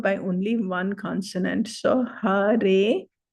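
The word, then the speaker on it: हरे: Hare, long vowel E. Hare, like that.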